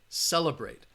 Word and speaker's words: celebrate: you should have answered celebrate the syllable that has the schwa sound is that second syllable all right so the